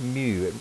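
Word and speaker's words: μ: have these symbols so this symbol is pronounced mu mu represents the coefficient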